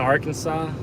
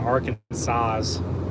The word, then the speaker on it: Arkansas: don't know it's in Arkansas when I was little I used to pronounce it arant Aransas I think it was like yeah I pronounced it Aransas and I figured out that was very wrong so wow guys we